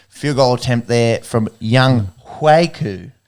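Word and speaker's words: Younghoe: Saints blocked the game-winning field goal attempt there from Young Huiku. Do you know that's sort of the way that you pronounce it? Not Young Ho.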